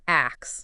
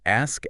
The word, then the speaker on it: ask: Sometimes I hear axe. Yeah. Axe. instead of ask. Is there like what's going on there? Sometimes it's just the order of the sounds getting flipped. That's interesting. So, it's ask S before the K. Ask. Okay. Sometimes maybe it's just a habit or they misinterpret how the sound should go. Got it. Okay. So, let's practice. Ask. Ask. Hear that S leading into the K.